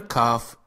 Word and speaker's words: كاف: The letter kaf is pronounced like k in the word likewise.